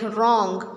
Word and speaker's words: wrong: When W comes with R, it is silent. Like wrong.